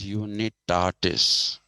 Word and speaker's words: unitatis: is the principium unitatis but you need tardis that'll be the latin pronunciation okay and as per